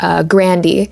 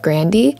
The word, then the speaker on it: Grande: pronounce her last name Grande. And a while ago in like an interview, she was talking about how her grandpa would pronounce Grande as Grandy, and she pronounces it that way in the song.